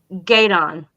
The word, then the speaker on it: Gueydan: So it's currently at the name of the town is Gaydon, and it's spelled Gueydan.